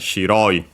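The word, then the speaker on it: 白い: the first moa hello the adjective is accented shiroy we have also seen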